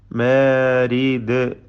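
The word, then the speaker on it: مارد: മാരിദ്, ദാലിൽ ഖൽഖല നൽകി ശബ്ദം ചലിപ്പിച്ച് വഖഫ് ചെയ്യുക.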